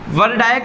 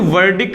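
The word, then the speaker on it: verdict: वर्डायक्ट नहीं बोलते इसको, वर्डिक्ट बोलते हैं। ये है वी, इसको वैसे देखा जाए तो वेर, देखो वेर डी आई क्या हो जाएगा, ये का क्या हो जाएगा, सी का ता, वेरडिक्ट। ये का आधा रहेगा, याद रखना, इधर ऐसा रहेगा। इसको वर्डिक्ट बोलेंगे।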